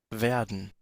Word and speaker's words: werden: Eh, Pero werden, werden, nótese que es con la E, no es con esta. Esta sería más como B, pero esta es con E. werden, werden, werden, Esta iría más con este sonido de acá.